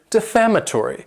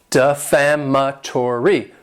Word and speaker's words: defamatory: Next is the word defamatory. And this word has 5 syllables, and the stress is on that second syllable. Defamatory. Defamatory.